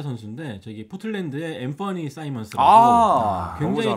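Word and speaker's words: Simons: 앰퍼니 사이먼스. 그 저도 처음에 사이먼스를 보고 시몬스인 줄 알고 시몬스라고 그랬어요. 했다 보니까 현지 중계들이니까 사이먼스라길래 철자가 또 벤 시몬스랑 다르죠.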